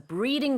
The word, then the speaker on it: breeding: So in Korea, a lot of people get the R sound and L sounds confused.